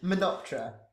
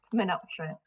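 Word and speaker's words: Menoptra: I think Theo might have to pronounce it. Menoptera. Menoptera.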